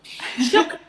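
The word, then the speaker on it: شكرًا: Shukran. Oh, shukran. Shukran. Like in Indian. That's very similar to the Indian shukriya, right?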